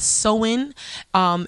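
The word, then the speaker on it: Samhain: now then we got so in and know it sounds like that but it's it's spelt s a.m. h AI N and this is when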